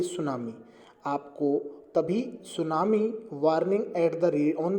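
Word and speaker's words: tsunami: तो देखिए, part 2 of lesson सुनामी, T silent होता है, और यही हम लगातार पढ़ रहे हैं।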